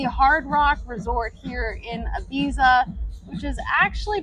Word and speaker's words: Ibiza: this is the Hard Rock Resort here in Ibiza which is actually pronounced Abita so I'm not going to be seeing any